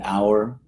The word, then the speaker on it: hour: words like honor and hour, like how many hours. So we don't pronounce the H.